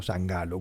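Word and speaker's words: San Gallo: dice la mafia de San galó o sangalo como pronuncian algunos En referencia San Carlos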